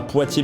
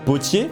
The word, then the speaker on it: Potier: Tout d'abord, bon, mis à part le fait que tu sais absolument pas prononcer un nom de famille, hein, c'est pas Poitiers, mais c'est Potier.